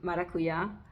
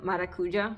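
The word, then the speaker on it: maracuyá: it I don't know for a while I didn't even realize it's actually maracuya I mean everyone said maracuja because you think they'd be like that but it's actually marakuya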